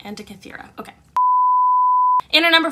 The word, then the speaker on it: Antikythera: Antikythera. Antikythera. Antikythera. Okay, so it was right, but like just had the emphasis on the wrong syllable. Antikythera. Antikythera.